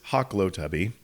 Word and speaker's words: Hahklotubbe: Well, my last name is Hawk Lotubby and it's spelled H A H K L O T Ub and that happens to be my website address.